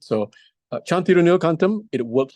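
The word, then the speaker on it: Thiru Neela Kantam: It's Thirunila Kantam.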